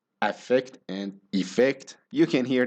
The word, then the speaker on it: affect: the word effect and effect they sound almost exactly the same when they are spoken naturally effect and effect in both words the stress is on the second syllable so the unstressed syllable